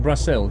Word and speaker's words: Brasil: basically you didn't know they call it brassel yeah they do because they don't it's because they don't pronounce the Z the same way that we do that's why well a